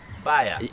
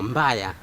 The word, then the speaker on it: mbaya: Baya. No, mbaya.